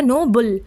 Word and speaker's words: Nobel: इसमें इसको बोलेंगे नो बेल। नो बेल। ठीक है? Stress on the second slave. अब आप देखो यहां पर लिखा है stress stress on the second sleeve यानी जो सेकंड स्लेव है बी ई डबल एल इस पर हम लोग स्ट्रेस डालेंगे यानी थोड़ा खींच के बोलेंगे नो बेल।